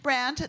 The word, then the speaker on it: Brandt: my name is brand the D in my last name is silent just like my love